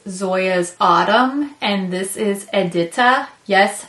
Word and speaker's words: Edita: Autumn and this is edita yes I Googled and listened to a bunch of different ways to say this that seems to be the accepted pronunciation so edita and autumn autumn obviously is